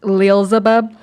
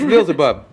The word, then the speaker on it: Leelzebub: It's pronounced Leelzebub. See, I knew it. I'm the champ. I said it's Leelzebub.